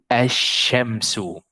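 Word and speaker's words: الشمس: You will say it with shadda. So you'll have double of this letter. Asha, ashamsu.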